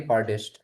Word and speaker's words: chiropodist: We actually in India we say chiropodist, but it is not podist. Okay, in English, the O is sounds like a. So that's why we are having Okay. chiropodist.